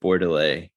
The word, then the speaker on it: Bordelet: It was a 2014 Eric Bordelais cider. It was a pear cider. And so if those don't know, Bordelais is spelled Bordelet, and he's just one of the top cider producers.